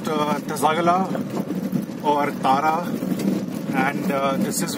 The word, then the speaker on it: Tsaka La: pronounced Tsagala or Tara, and this is where this thing comes.